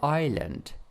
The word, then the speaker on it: island: Tao and a deserted island a deserted island island okay this one is silent letter Island so one Tao and